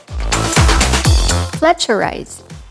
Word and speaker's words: fletcherize: cat species often as a greeting it's simply pronounced as truffle fletcherize to chew food slowly and thoroughly say this